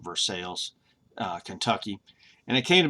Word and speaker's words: Versailles: And in 1812, he moved from Virginia to Versailles, or I think they pronounce it Versailles, Kentucky.